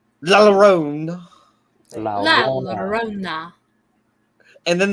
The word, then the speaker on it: La Llorona: pronounce the double L like a Y. La Llorona.